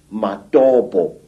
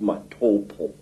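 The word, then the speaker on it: Matobo: place called the mountains of the round rocks matabo wrongly pronounced matopo in in Zimbabwe these Hills are really not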